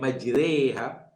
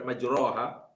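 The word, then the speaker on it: مجراها: satu-satu kalimat dalam Quran dengan imalah contohnya ayat ini Bismillahi majreha bukan majreha bukan majroha tentulah dalam riwayat Hafidz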